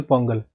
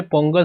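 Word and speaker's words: പൊങ്കാല: देखिए, इसी के जैसे होता है अटुकल पोंगल। आपने पोंगल सुना होगा, बट इसका एग्जैक्टली प्रोनाउंसिएशन होता है पोंगला, ठीक है? पोंगला कहा जाता है इसको, और अटुकल जुड़ जाता है तो आप समझ सकते हैं।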